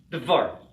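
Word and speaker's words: דבר: It would be dvar, right? It's a consonant cluster.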